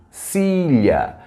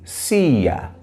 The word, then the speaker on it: silla: Se você preferir dizer com som de LH, você pode dizer, então, silha. Também você pode dizer esse LL como se fosse a letra I. Então você pronuncia assim, cia, ok?